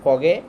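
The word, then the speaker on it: forget: नहीं क्या बोलेंगे फॉरगेट क्योंकि जो आर जो होता है वो साइलेंट होता है मतलब कम साउंड निकालना चाहिए तो फोगे फॉरगॉट फॉरगेट इसको इस तरह से बोलेंगे नॉट फॉरगेट फॉरगेट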